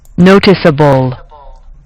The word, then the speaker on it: noticeable: to look like this with the emphasis on the first syllable all right so please